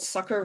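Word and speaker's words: succor: This one is called sucker, which I think my ghost of a southern accent prevents me from pronouncing s u cc o r.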